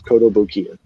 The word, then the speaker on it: Kotobukiya: It's spelled just like it sounds, Kotobukiya.